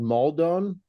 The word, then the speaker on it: Maldon: if it's Celtic I use this stuff called maldon m a l d o n it's like